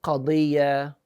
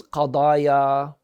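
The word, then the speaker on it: قضية: In Arabic, we say qadiyya. Plural is qadaya.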